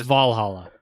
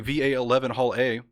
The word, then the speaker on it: VA-11 Hall-A: this game because i've it's valhalla we're back with valhalla i've been saying va 11 hall a yeah no i tried